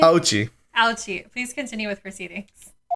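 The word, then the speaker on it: Auchi: Ouchie.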